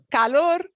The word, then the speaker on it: calor: The odd thing about this one, calor, color, the difficulty people may have listening to you say those two words is not from the trilling of the R. It's from not getting this sound right versus this sound right. Because they will sound pretty much the same if you schwa it.